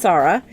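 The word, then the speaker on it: Tsarra: this is Sara its TSA RRA but it's pronounced Sara and it is mostly elven land this is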